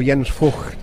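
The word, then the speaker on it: Jens Voigt: with yen's Floyd or yen's for as we are we're supposed to say because that's how the Germans pronounce his surname Daniel pronunciation police is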